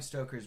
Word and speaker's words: Stoker: Uh and his very specific idea going forward was the message of Bram Stoker's Dracula. I'm pronounc it's Bram Stoker not I I I always say Braum Stoker is it is Stoker though.